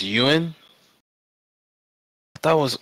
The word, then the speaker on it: Yuan: the UN to follow the dollar and it's pronounced Yuan I thought was Juan oh my God pronounced B you guys I